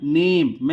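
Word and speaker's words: name: एम ई क्या बनेगा नेम इसकी हिंदी लिख देता हूं ने म क्या बनेगा नेम लेकिन आपको याद रखना है कि लास्ट में जब ई साउंड आता है उसका कोई उच्चारण नहीं होता आपको ऐसे भी याद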